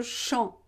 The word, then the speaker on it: champ: Sur le champ. Don't pronounce the final P.